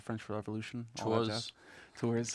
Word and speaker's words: Tours: Tours. Tours. So, like, just like Coors Light or something, you know? It's Yeah. like Tours Light.